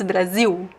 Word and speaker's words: Brasil: Don't pronounce the L at the end of Brazil. Don't do that. It's Brasil. We do write, and actually we write without the Z, we write with the S and the L at the end, and the pronunciation is Brasil.